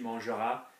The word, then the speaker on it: manger: So, words which end with an R often don't hear the R.